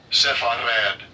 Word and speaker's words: Sepharad: Strongs H5614. Sepharad. That's how you say it in Hebrew, right?